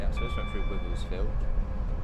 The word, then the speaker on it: Wivelsfield: Okay, straight up, so this went through Wivelsfield, which I hear a lot of people at work calling Vivelsfield, and the other one's Crawley.